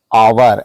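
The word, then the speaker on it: hour: है ही इज एन आवर एच यहां पर साइलेंट है इसलिए आ से शुरू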